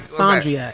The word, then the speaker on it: Sondria: Sondria.